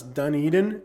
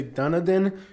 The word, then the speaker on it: Dunedin: Some people pronounce this town's name as Dunedin, and some people say Dunedin. Not even the locals can agree on the proper pronunciation, but this whole area